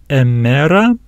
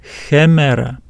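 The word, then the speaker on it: ἡμέρα: not read this word emera, emera. Because of this rough breathing mark, we need to bring the sound h in front of this eta, hemera, hemera.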